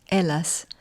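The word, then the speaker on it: Hellas: Helas, pronounced Ellas, the part Ella being aka when it was freezing cold three years in a row 3650 years ago, exactly 1648 BC.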